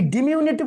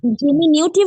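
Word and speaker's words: diminutive: এই ডিমিউনিটিভ শব্দটা মানে হচ্ছে একদম ছোট, একদম সূক্ষ্ম, একদম সূক্ষ্ম অথবা ছোট, ডিমিউনিটিভ।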